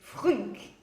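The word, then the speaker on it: Frnck: Une série que j'adore, mais qui est très difficile à prononcer. C'est Frunk.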